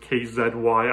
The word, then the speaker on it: Kzy: You will hear me pronounce it KZY. I am Canadian.